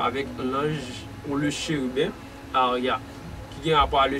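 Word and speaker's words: Haaiah: Tant que nous parlons de 12e génie qui c'est 12e génie, excusez, qui c'est Aria, qui s'écrit H-A, I-A-H, c'est 12e génie, ils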